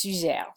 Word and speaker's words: Suger: "Suger," it looks like "sugar"--yes, I'm from Chicago; I was born there, so sometimes I'll fall into a Chicago pronunciation, that's okay-- looks like sugar, but it's Suger.